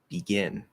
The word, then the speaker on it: begin: a lot of words, the full, clearly enunciated way to say them is with the sound E. Okay, so begin. The stress is still on the second syllable.